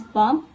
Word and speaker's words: BMP: And the last one is BMP which is which uses print graphics short for bitmap. It can be pronounced as bump bmp simply a simply a bit mapap image.